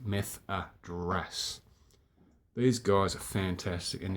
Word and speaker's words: Methadras: Methadras, as it's pronounced, Methadras.